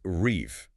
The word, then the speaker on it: Reve: It's reef, like the French word rev, which means dream.